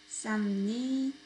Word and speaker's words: 쌉니다: 쌉니다. Okay, and 삽니다. Be careful with the pronunciation. 쌉니다. 삽니다.